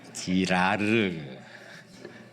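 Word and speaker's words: Girard: 끝에를 좀 잘 발음해. 르네, 그렇게 발음하면 안 되고요. 지라르.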